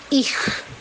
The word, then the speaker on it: ich: Jadi Schule, sedangkan kalau tanpa S maka dibaca KH, jadi harus ich.